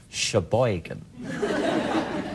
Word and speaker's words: Sheboygan: right let's just rumor is that how you say it Sheboygan well unless you're doing this your boy can accent and it's Sheboygan this is from James